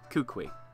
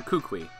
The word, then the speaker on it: Kukui: I think that's how it's pronounced. Why don't you let him in, Music Kev? Kukui.